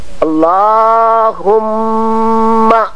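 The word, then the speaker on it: اللهم: عرض کر رہا ہوں، اللہم، یہ اللہم، اللہ کو ذرا لمبا کر کے پڑھنا چاہیے، کچھ حضرات اللہم کہتے ہیں، وہ صحیح نہیں ہے۔ اللہم، یہاں میم کو 2 مرتبہ پڑھنا چاہیے۔ صلی علی محمد المصطفیٰ،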